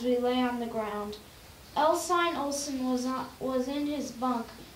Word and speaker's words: Ensign: And Ensign is pronounced Ensign, just so as you know.